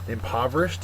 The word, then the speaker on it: impoverished: though is just chop impoverished is next uh number 10 uh it's an adjective second syllable is accented it means poor or